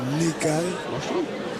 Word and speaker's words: Nekaies: Parce que je dis toujours Ni, mais c'est Nekae.